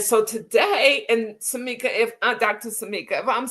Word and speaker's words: Sammika: Sammika, if I'm saying your name wrong, please stop me and correct me, okay?